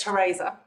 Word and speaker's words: Theresa: about that one yeah um yeah no it's Teresa my mind of the e but absolutely no